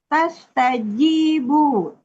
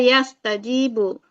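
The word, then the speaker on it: يستجيبوا: yang apa penggalan 13 apa bacanya tadi di sebut tastajib Ibu. Oh, iya. Ya, dia yastajibu. Iya, Bu. Heeh. Yastajibu. I bukan tas ya.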